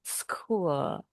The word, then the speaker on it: school: Yang ini bunyinya seperti K school.